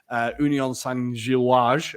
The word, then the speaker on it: Union Saint-Gilloise: Union Saint-Gilloise, I've been informed is how you say it, had 7 shots and 4.